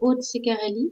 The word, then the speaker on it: Aude Ceccarelli: Donc, je m'appelle Aude Ceccarelli, c'est un nom italien, donc je le prononce à la française.